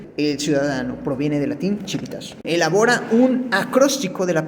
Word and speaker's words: civitas: El origen de la palabra ciudadanía proviene del latín civitas, que se escribe civitas, o sea, con C, pero se pronuncia civitas, que significa ciudad, es decir, de ahí proviene del latín de la Roma antigua.